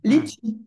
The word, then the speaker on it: litchi: ah, Litchi. Comme ça se prononce.